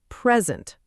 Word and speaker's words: present: The answer is present with stress on pre because it's a gift, a noun.